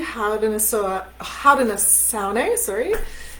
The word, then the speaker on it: Haudenosaunee: traditional lands of the Haudenosaunee, the Anishinaabe. Sorry, I've been missing a syllable on that one, so I wanted to make sure that I got that correct.